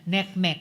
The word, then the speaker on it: NCMEC: Uh partly it's accounted for by the fact now uh bat tip NCMEC or neckmech as they pronounce it neckmech cyber tip line reports.